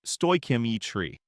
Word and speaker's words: stoichiometry: Stoichiometry, pronounced stoichiometry, is the quantitative determination of reactants and products in a chemical reaction, always based on a balanced chemical equation.